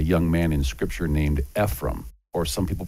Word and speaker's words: Ephraim: And in this video series, we'd like to tell you the story about a young man in scripture named Ephraim, or some people pronounce his name Ephraim.